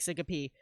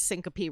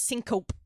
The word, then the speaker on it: syncope: Yeah, it's everybody pronounces syncope wrong from the reading as well. Like they'll read it as syncope. And I'm like, nah, you pronounce the E.